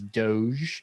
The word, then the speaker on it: Doge: tweeting about Dogecoin, and yes, that is how you pronounce it, is Doge.